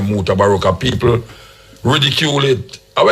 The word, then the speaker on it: Mutabaruka: People, the first time when I come on the radio and say my name Mutabaruka, people ridicule it. I name Mutabaruka, Buka, Baka Buku, and all this. What Mukubuko, and them knows what to say, you know.